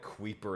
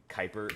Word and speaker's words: Kuiper: I always called it Queeper and that when I actually played it, but I know it's completely wrong. Kuiper. It's like Kuiper or something. It's named after the belt.